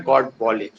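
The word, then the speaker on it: Godbole: बोले next character जो आपके हैं वो कौन है, प्रोफेसर नारायण गॉड बोले। तो जो प्रोफेसर नारायण गॉड बोले हैं वो है प्रोनाउंस गॉड बोले, प्रोफेसर नारायण गॉड बोले हैं।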